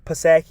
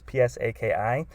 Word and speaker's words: Psaki: joe biden's press secretary jenn pasake i'm not sure if i'm pronouncing that right it's psaki she is echoing the fact